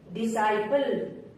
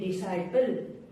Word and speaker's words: disciple: एस के बाद आया सी हमेशा साइलेंट होता है। जैसे एसेंट, ASCENT, एसेंट। जैसे डिसाइपल, DISCIPLE, डिसाइपल।